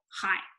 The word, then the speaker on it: high: 啊，您要是说普通话，您就说 Yes， I speak Mandarin。你要说不，我说广东话，No， I speak Cantonese。啊，这两个其实就是 Chinese 下面的两个细的划分。好，我们再讲几个形容词啊。高低快慢，高 high。 hi, hi, hi, and this gh 不发音，其实就是 hi, low 是什么？低，低，哎，低， low, 快，fast, fast, fast, fast, 慢，slow, slow, slow, slow, 这是形容词，形容词啊，都是形容词。那你最常见的就是说，我说你说慢一点。